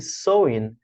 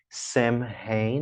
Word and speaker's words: Samhain: E Samhain é o nome próprio desse festival. E aí a pronúncia dele é um pouco imprevisível, né? Porque não é Samhain, não. Samhain, Samhain. Você vai pronunciar assim.